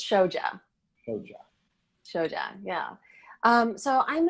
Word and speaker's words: Shoja: how do you say your last name it's show job so John yeah so I'm a writer I'm